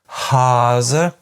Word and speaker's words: Hase: In fact, there is one pair where, for most people, there is almost no difference at all in tenseness. This is the difference between Hase and Hasse.